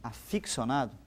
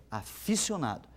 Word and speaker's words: aficionado: professor Apesar de que muitas pessoas dizem aficcionado essa forma não existe na língua portuguesa a palavra correta é aficionado eu devo escrever aficionado e devo pronunciar aficionado Nossa mas muita gente